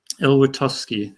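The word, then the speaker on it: Elwertowski: Elwitowski. There we go. Yeah, Tom, there you go. Couldn't Tom think of his name. Elwitowski, who had been the previous builder of the Mac packages, and then William Kingsborough.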